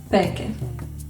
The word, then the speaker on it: pēke: Okay, there is no sound b in Maori, so it is replaced by its voiceless version p. The sounds n and k become one, and the vowel is added at the end because every syllable has to be open, and we get peke.